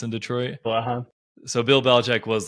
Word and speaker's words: Belichick: And so who's KC, Bill Belichick? KC. The reason it sparked it in our minds earlier is because you mentioned that you saw the Patriots in Detroit. Uh-huh. So Bill Belichick was like the legendary, even I knew his